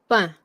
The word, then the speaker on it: pain: But like in French, like the way we say it, that's why it says nasalized. Pain.